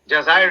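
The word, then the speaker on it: جزائر: Jazair is how it's pronounced.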